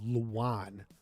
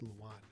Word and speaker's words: Luan: Luan with like a W. Luan is how it's pronounced. Luan. Okay. Thank you. I'll try to remember that. That's how to pronounce his name.